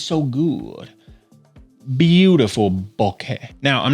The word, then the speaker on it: bokeh: for on Earth but it's like okay except with an e at the end and a b up front Boke right it's not boki or B or B